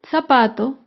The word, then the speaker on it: zapato: es la palabra zapato zapato se acentúa en la penúltima sílaba pero no lleva tilde porque termina en vocal zapato otro ejemplo de